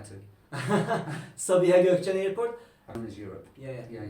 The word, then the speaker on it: Sabiha Gökçen: the most popular airport still Can because you pronounce it for me? Sabiha Gökçen Airport. Yes, I was going to say that, but I didn't know how to. Sabiha Gökçen Airport.